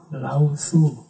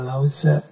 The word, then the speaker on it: Lao Tzu: tradisi filsafat Tiongkok, yaitu Lao Tzu, atau kadang-kadang juga dibaca Lao Tse, kadang-kadang juga dibaca Lao Zi. Monggo saja cara membacanya.